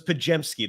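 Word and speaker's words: Podziemski: looks hard like mine you just replace the D and the Z with a J so it's pajamski that's how you pronounce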